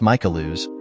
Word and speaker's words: Michaels: John this is Mike father Michaels pronounced mikelo would call himself Mike